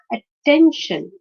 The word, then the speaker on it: attention: we can understand that the stress is on the second syllable because attention okay attention behavior connection condition